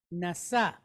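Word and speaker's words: נשא: we have the word NASA NASA so when we think about NASA we think about it sounds like the word NASA right and what does NASA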